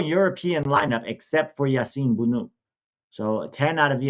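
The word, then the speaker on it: Bounou: Bono Yasin Bunu I believe is how you pronounce it from Alhal is in goal.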